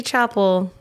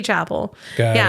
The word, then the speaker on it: Chappell: my name correctly because usually people would say Chappell. Oh, I'm like, really? no, it's Chappell. Yeah. And so, yeah, but it's Chappell. It's, I say Chappell.